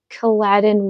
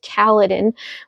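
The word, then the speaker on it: Kaladin: like um by the way I just realized that I was pronouncing Kaladdin wrong. It's not Kaladdin, it's Kaledan, which actually does sound way better now that I think about it.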